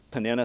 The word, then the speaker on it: Peninnah: give a portion to Peninnah, his wife. I heard this pronounced many Peninnah, many Peninnah, different ways. Peninnah, since I pronounce it that way, is the right way.